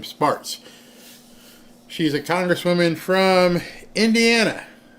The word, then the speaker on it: Spartz: I believe that's how you say her name, Spartz.